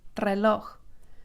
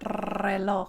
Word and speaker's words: reloj: But when it begins a word, it's rolled. Reloj, reloj, reloj. And you don't have to sit there and roll it forever. It's not reloj. You just do it a little bit, reloj.